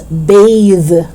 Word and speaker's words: bathe: voiceless bath bath and the second one which is a verb is bathe bathe so you say sun bathing